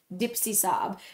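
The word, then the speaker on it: DIPSISUB: really long acronym, but it's pronounced like dips, like chips and dips.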